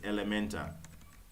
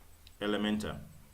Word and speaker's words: Elementor: the final one you're going to install is elemental Elementor and it's spelt in that way IL e m e